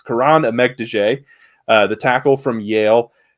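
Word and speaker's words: Kiran Amegadjie: of the channel you know Tyler struggles with pronunciations but it's Karan EG de uh the tackle from Yale a little bit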